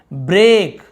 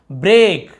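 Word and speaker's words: break: थ लंबा खींचना है ए जैसे ब्रेक हम ऐसे ब्रेक नहीं बोल रहे ब्रेक नहीं बोल रहे क्या देखो यहां पे ये जो अ टाइप लिख रहा ना एस ये अ थोड़ा सा अ को और बढ़ दि ब्रेक ब्रेक यानी टूटना फूटना तोड़फोड़ ये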